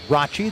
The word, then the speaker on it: Rathjen: Caleb Bracci, it looks like Rathjen. It's pronounced Rachi.